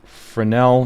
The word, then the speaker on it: Fresnel: we're going to use what's called a frenel Shader which is spelled frenel I think it is hang on uh fresnel so I'm going to I'm